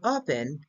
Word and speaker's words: open: the word pen but in reality the word open the stressy syllable is O so because the final